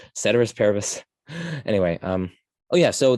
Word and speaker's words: ceteris paribus: a terrorist saint parabus i know people say keturis paribus but again that's one of those cases where i'm just like that sounds like nails on a chalkboard to me it's like valacella it's like ugh it's valicella it's ceteris ceteris paribus anyway um oh yeah